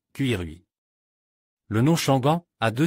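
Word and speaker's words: 奇瑞: Mais le nom du fabricant bien connu Chery signifie « bon présage » en chinois et se prononce d'une manière un peu inattendue, Cuirui.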